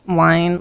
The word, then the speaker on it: Wynne: Is his name spelled like wine, like the drink, or wine like he's a whiny boy? Wynne. Oh, so neither. So it's Win. Brom Wine. Bromwyn. Yeah, it's Win.